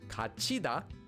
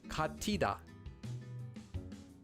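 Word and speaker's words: 같이: This word would be pronounced as kachida and not katida.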